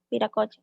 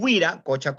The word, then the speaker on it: Viracocha: Viracocha. Claro. Le llaman Huiracocha con W o Viracocha. La pronunciación viene a ser la misma, ¿no?